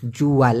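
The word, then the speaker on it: jual: লাকু মানে হলো বিক্রি করা, যদিও মালয়েশিয়ান ভাষায় জু আল উচ্চারণটা দেখুন, জুয়াল, একবার করে উচ্চারণও করতে পারেন ইচ্ছে করলে।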